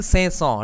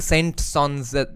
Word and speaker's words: Saint-Saëns: Camille Saint-Saëns, right? That's how it's pronounced. Camille Saint-Saëns, ऐसा कुछ spelling है उनका.